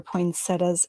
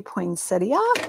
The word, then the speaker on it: poinsettia: And then we'll add our poinsettias on top. See, I pronounce it both ways. Sometimes I say poinsettia, and sometimes I say poinsettia.